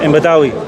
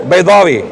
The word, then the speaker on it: Baydawi: Imam Badawi. Who? Right. Baydawi.